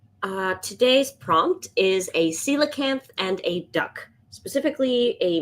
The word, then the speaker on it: coelacanth: The celacanth, not the coelthan.